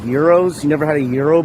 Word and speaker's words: gyros: Like you don't like gyros? You never had a gyro before? It's disgusting. We're good. It's pronounced gyros, my man.